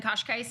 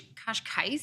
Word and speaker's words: Cascais: Yeah, Porto, Lisbon, Cascais, I think is how you say it. Okay. Kind of a beachy town. What was vibe. your favorite? Kosh. That's what they say, but I think it's Cascais.